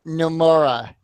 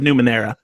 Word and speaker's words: Numenera: at number 100 we have tournament tides of Nomura torment tides of numenera thank you you know the last bad pronunciation number 99 3 number 98 vampire the